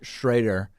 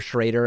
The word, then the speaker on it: Schroeder: bruce schroeder schroeder schrader everybody tells me a different every time i pronounce it one way i get an email saying it's the other one so i'll say schreider kind of a middle middle ground on him in the kyle rittenhouse